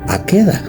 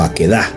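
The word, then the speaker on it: עקדה: Pero en español, vamos a decirlo así, la pronunciación que podría ser Aqueda o Aquedá significa atadura de Isaac.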